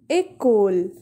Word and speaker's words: école: But with this accent, we pronounce this letter as A. For example, école.